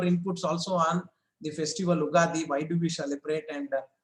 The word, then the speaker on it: Ugadi: So basically what I knew is that Ugadi, actually Ugadi, you can also be pronounced as Yuga Adi. That means Yuga means we know that it is era, and Adi means the beginning in Sanskrit. So a new era has started.